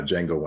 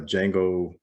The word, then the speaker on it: Django: star wars with uh django unchained because i was like wait they're spelled differently but they're they're pronounced the same the color scheme is